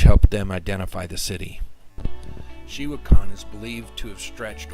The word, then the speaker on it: Xihuacan: Xihuacan.